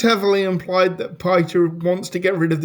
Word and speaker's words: Piter: It should be pronounced Piter, but it The name is so Dutch, and it's Peter.